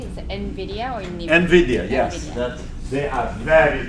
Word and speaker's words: NVIDIA: I'm not sure how to pronounce it. Is it NVIDIA or NVIDIA? NVIDIA, yes.